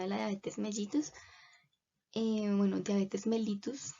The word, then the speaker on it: diabetes mellitus: Bueno, diabetes mellitus, como realmente se debería pronunciar.